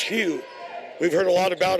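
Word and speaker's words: Hwang: no zero pardon me Steve Hugh HW NG pronounced Hugh we've heard a lot about him but that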